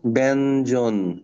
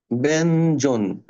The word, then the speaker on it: ব্যঞ্জন: আর তুমি এগুলা পড় ব্যঞ্জন দেখো ব্যান আগেই ন আসতেছে দেখো এইখানে কি আছে এরকম আছে না এরকম আছে এবং ব্যান ইর উচ্চারণ একটা সময় ন এর মত উচ্চারণ করা হইতো এবং ওটা রয়ে গেছে ব্যঞ্জন আর যদি নিচে এরকম